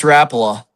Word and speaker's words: Rapala: It's Rapala.